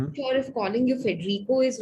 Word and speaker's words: Federico: Federico is the way I would pronounce it in Spanish.